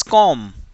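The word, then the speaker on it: comb: silent ल जी silent B अगर एम और भी एक साथ करने के लिए तो वह कॉम नहीं होता इट्स कॉम okay कॉम बी को मत बोलो नेक्स्ट यह शब्द जो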